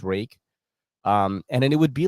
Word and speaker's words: Ruike: Like back then, you would buy a knife from Rake Knives, RUIKE. It is pronounced Rake.